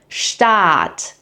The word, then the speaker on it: Staat: Like for example here, Staat, Staat, with a long A. That means state or country.